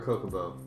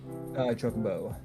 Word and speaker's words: Chocobo: Is the official thing Chocobo or Kokobo? Chocobo. Okay, I've been saying it wrong my whole life.